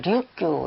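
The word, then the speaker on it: 류큐: 이제 발음으로는 류규 이렇게 읽고 지금의 오기나와 현에 가면 류규 대학교도 있습니다.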